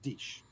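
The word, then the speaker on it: Diesch: The 6'7" Kellen Deesch, if I'm saying his name right. It's D-I-E-S-C-H. I'm pretty sure you pronounce it Deesch.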